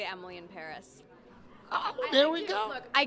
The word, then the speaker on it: Paris: do you pronounce it is it emily in paris or emily and perry now please just set